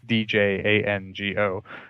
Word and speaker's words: Django: by the way, it's Django. Although now that Quentin Tarantino came out with his movie, everybody knows how to spell it. Before that, people would be like, what, Django? The D is silent.